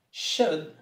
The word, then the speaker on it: should: Should has a strange spelling, but a simple pronunciation. It rhymes with good. Should, good.